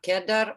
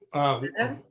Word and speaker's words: cedar: How to pronounce cedar, kedar, or its name, Western red? Cedar? I say cedar. Cedar, because Yeah. in Russian language, it's kedar, like just, I have no letters.